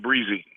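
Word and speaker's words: Bresee: As you've looked a little bit at, and I'm going to mispronounce his last name. Is it Bracy? Or Breezy. Yeah, Breezy.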